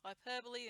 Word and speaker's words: hyperbole: rule of three, connotations, hyperbole, and that's how you pronounce it if you do any other way, repetition, rhetorical questions, and emotive language.